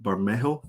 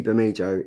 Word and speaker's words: Bermejo: This is a Lee Bermejo. That's how I pronounce it.